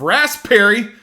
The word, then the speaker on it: raspberry: a top note of raspberry I've always got to pronounce that P and raspberry it doesn't get enough love but overall this is